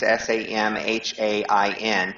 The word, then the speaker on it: Samhain: So Samhain, which looks like Samhain, if you read it, it's Samhain, but it's pronounced Samhain, which is Gaelic, is the height of fall.